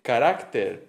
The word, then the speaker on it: carácter: Eh, entonces se dice especimen, pero se dice especímenes. Se dice régimen, pero se dice regímenes. Se dice carácter, pero se dice caracteres.